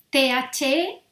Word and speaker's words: the: Entonces, el artículo de se dice the, ¿vale? Es como una medio Z y una medio A, ¿vale?